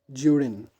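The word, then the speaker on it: Judewin: Next, mm, now her friend Judwin, her friend Judin, you will pronounce Judin. You will pronounce it Judin.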